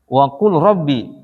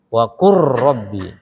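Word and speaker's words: وَقُل رَّبِّ: Wa qul rabbi. Lamnya hilang. Jadi wa qur rabbi.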